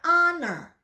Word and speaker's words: honor: Dia tulisannya H tapi dibacanya honor yang artinya sebuah kehormatan.